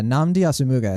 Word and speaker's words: Nnamdi Asomugha: Yeah, Nnamdi Asomugha is how I say it.